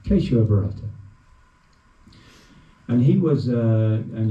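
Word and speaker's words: Keshava Bharati: Thank you for correcting me with my pronunciation. Queso Barata.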